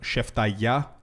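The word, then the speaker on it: σεφταλιά: It's the pronunciation is a little bit harsh. It's called sheftaya.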